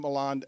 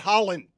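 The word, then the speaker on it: Haaland: And I'm not going to stop calling him Haland. I'm going to say it again. If you have three A's in your name, I'm not pronouncing it Holland.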